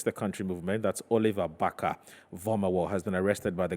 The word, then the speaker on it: Barker-Vormawor: Right, so that's the police statement on Oliver Baka-Vomawo. That's how the name is pronounced.